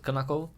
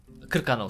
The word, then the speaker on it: Krkanov: Though, if you ask the villagers in Krnakov, I think, that's how you pronounce it, Krnakov? Krkanov, sorry, Krkanov.